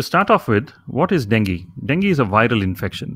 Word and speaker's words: dengue: called dengue fever now even though it is spelt de and gue the condition is pronounced as dengue so we'll be discussing